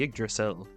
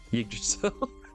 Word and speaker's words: Yggdrasil: Essentially, Barbarians are connected to the tree Yggdrasil, whatever you want to call it. I don't know how it's You pronounced it perfect first time. Yggdrasil.